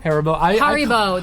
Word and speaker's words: Haribo: Haribo.